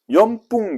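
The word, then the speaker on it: よんぷん: 자, 4분 연뿡 돼 있습니다. 원래는 연흥을 하는 게 정석입니다. 그런데 발음상 연뿡을 했다라고 합니다.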